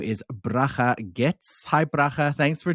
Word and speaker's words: Bracha: Her name is Bracha Goetz. Hi, Bracha. Thanks for joining us. Hello, thank you so much. I'm so pleased to meet you. Thank you for the way you pronounce my name. Oh, Bracha.